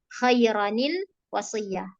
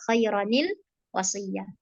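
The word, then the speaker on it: خيرا الوصية: Maka bacanya khairanil wasiyah. Itu kalau nun kecil di awal kata nggak pakai ini kawan-kawan ya, nggak dipakai nunnya karena itu hamzah wasal. Jadi al wasiyah bukan nil wasiyah kayak gitu.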